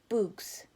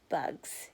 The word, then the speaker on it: bugs: Zero concentrated hard, then said, "Boogs." Stanley laughed. A wide smile spread across Zero's sick and weary face as well. "Bugs," he said.